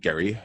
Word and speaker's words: Gerry: challenge now my guest today is David is pronounced Gary I should have asked you before is it Gary Oh Jerry Gary Gary okay my guest today is David Gary he's the chief revenue officer and head of